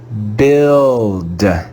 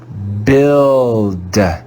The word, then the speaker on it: build: with a silent you build build build we read this word as if it was spelled b-i-l-d the u is silent in this word again we see the